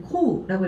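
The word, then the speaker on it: 降: 자, 음독으로 읽어줄 땐 코우라고 읽어주시면 되고요.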